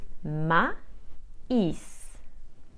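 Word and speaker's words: maïs: I to form a I must separate those two letters which means that I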